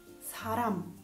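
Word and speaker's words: 사람: Invece quando è all'interno di una parola, se è singola tra vocali, si pronuncia come R. Saram, Saram, persona.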